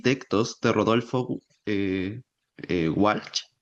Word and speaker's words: Walsh: Nos encontramos hoy día con Felipe Reyes, escritor de Escribir es escuchar, que reúne las crónicas y textos de Rodolfo Walch. Walch se pronuncia.